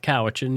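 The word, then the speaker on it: Cowichan: North Kowitchin. Yeah. Okay. I still am getting used to how you pronounce uh so many things.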